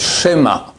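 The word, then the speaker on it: שמע: Après donc on commence et vient le chemin Israël. Bon, on va parler comme un peu du chemin Israël. C'est pas chemin, c'est schéma. Chema c'est un cheval na les deux points comme ça.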